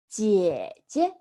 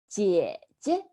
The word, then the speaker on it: 姐姐: So older sister in Chinese is 姐姐. 姐姐. The two syllables are the same, right?